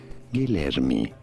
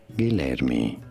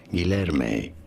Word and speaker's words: Guilherme: So this is a name of Portuguese origin, generally associated with Portuguese language. So for reference, in Portuguese, this is said as Guilherme, Guilherme.